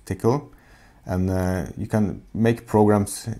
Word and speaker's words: Tcl: It's spelled TCL, by the way, but pronounced tickle.